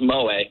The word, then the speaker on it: moe: OE o yeah that Mo it's pronounced Mo but yeah where is that Mo it's basically